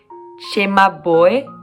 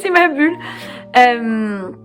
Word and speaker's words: Cimabue: We need to pronounce Cimabue. I didn't know, but in French we say Cimabue.